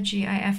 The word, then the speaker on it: GIF: uh it's an acronym it's a gif no i know i know but the creator specifically stated that it was intended to be pronounced jiff and everyone told him